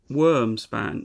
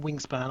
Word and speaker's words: Wyrmspan: WyrmSpan. No, is it WyrmSpan? How do you say that? It is WyrmSpan. Yeah, WyrmSpan. It is WyrmSpan. With a Y, not an I.